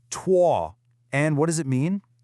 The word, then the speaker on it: 脱: Okay, this first character here is pronounced tuah.